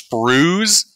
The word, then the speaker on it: sprue: Oh god, it's sprues? Yes! Oh shit, I've been saying it wrong for 20 years!